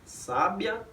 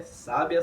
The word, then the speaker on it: sábia: Sábia, sabia e sabiá. E a diferença é o mero acento agudo, ou seja, é a posição da sílaba tônica.